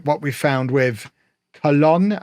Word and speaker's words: Colón: what we found with Colón, I think is the official way to say it, if you want to say it properly. I mean, I know nothing, but I think it's Colón.